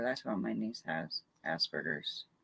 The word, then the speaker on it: Asperger's: Asperger's. I always say it wrong. Asparagus.